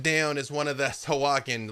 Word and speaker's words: Sahuagin: the sharks and the Sahuagin. I lost it again. What is Sahuagin? Sahuagin. Which, honestly, that is how it's spelled if you look at it.